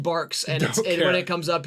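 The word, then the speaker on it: Barq's: as long as it's not that God forsaken bargs it's pronounced barks and when it comes up here I'm GNA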